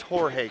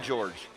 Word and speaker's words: Jorge: that correctly yep that's jorge correct yep okay good because i didn't want to call him george i didn't want to call him george you said it correctly